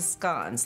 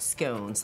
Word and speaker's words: scones: And you have to pronounce it scones like the British, not scones like the Americans do.